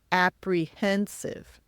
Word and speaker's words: apprehensive: The word apprehensive can be challenging. Remember, it's pronounced apprehensive.